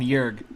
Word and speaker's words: Jurge: Well, I mean, I'm going to call him Jurg. Jurg? So, yeah. With like a silent E at the end, just like a hard end on the G.